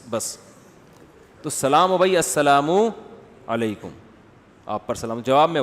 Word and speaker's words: السلام علیکم: علیکم اور صلی اللہ علیہ وسلم کا صحیح تلفظ بتا دیں. السلام علیکم کا ہے السلام علیکم, جو آج کل لوگوں نے ساشے پیش کر رہے ہیں سلام, السلام علیکم, ایسے سلام ہو رہا ہے السلام علیکم.